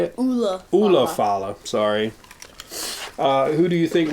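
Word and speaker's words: Ula Fala: We got the Alufala. Is that how you say it? Ulafala.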